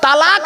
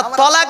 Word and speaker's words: তালাক: তালাক মানে জুড়ে যাওয়া, মিলিত হওয়া, একত্রিত হওয়া, জমা হওয়া। আমরা তলাক না বলে সব তালাক বলি।